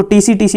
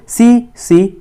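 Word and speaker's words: tsetse: T silent होता है, तो आप इसको T को साइलेंट रखोगे, सो इसको बोलोगे, इसको TC नहीं बोलना है, इट इज़ CC फ्लाई।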